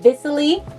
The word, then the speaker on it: Viciley: be doing a review on these lashes called Viciley Magnetic Lashes. I think it's called Viciley. I just want to make sure I'm pronouncing it right, but it's spelled V-I-C-I-L-E-Y.